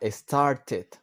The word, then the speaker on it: started: Sin embargo, aquí, para start, ¿qué es lo que hacemos? Agregarle una sílaba extra. Started.